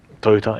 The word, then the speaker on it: Toyota: of brandings like sony toyota toyota it's actually pronounced in japanese nintendo and also some